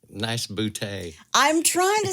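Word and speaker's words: Boutte: to say it I also saw where some pronounce it bouty okay but it's named for Andre Claude boute of France so boute nice boute I'm trying to say all of these towns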